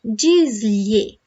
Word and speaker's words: diz-lhe: These two letters together sound like y, y. If it's too hard for you at the beginning, you can say like this. Li.